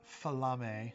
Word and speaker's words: Flame: Falame. So it's Flame. His name is Flame, but he pronounces it special because Fire Genasi.